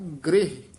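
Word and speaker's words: ਗ੍ਰਿਹ: उरण ग्रह अपने की ग्रह नहीं कहना गृह रारे न सरी ला गृह अपने की खबर न जाती मुसन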